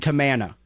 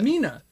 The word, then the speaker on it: Tamina: It It was Kelly, Kelly, and Rosa or or Kelly, Kelly, and Eve versus Rosa and Tamana. You said it wrong. Tamana, Tamika. Tamina.